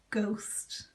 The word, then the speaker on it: ghost: and tell me what the word is it's ghost that's right and the next one then is